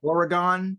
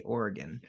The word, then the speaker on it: Oregon: local Zoo like I used to say yeah Oregon but obviously now I say Oregon yeah and so and